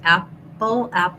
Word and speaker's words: apple: The p, app, Pull is not really aspirated in this word. So if I'm saying the word pull, there's a puff of air, pull. But if I'm saying this, apple, there's no puff of air. And so it's a little bit like a B, apple, but you can hear how if I do a B, it's stronger.